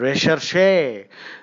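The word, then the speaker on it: recherché: Recherche, the pronunciation is recherche, means very rare, exotic, exquisite.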